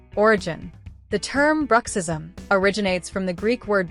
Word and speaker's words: bruxism: Bruck rhymes with truck. Sis, like the word sis. Sounds like the end of rhythm. Origin. The term bruxism originates from the Greek word brychion, which means to gnash the teeth.